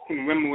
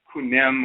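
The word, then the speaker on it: Khnum: Okay, so Kunum or Kunwemu, as we would say, like sometimes they don't know how to pronounce his name. They don't know if it's Kunem or Kunum or whatever, but he's the deity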